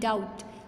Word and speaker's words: doubt: डाउट, DOUBT, डाउट, लेकिन बी जो है साइलेंट है।